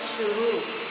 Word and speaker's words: शुरू: सही उच्चारण के लिए शुरू में बड़ा ऊ की मात्रा का र में प्रयोग होगा।